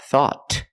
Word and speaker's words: thought: we found thought thought at the end the tongue goes up and makes a stop te not thought but thought thought thought I thought